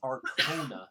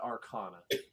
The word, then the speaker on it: Arcona: i should uh mention i keep saying it wrong it's arcona not arcana yeah arconium right uh